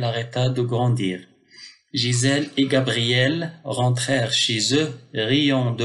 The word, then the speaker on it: Gabriel: Heureusement, son grand, déjà expliqué, Gabriel, G suivi d'un A, Ga, apparut et lui donna un grand, G suivi d'une consonne, G suivi d'une consonne.